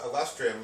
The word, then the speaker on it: Alustrium: the playground and chickens so we're back with lustrium part three yes I pronounced your uh band right you pronounced it